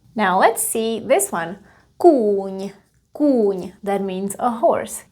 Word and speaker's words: kůň: Usually the consonants that are at the end of the word in Czech are not as strong. So you're not saying kůň, you're saying kůň, kůň. You pronounce it almost halfway.